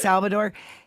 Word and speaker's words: Salvador: when he was young at Salvador am I pronouncing his name right yes Salvador he was young boy play saying dad what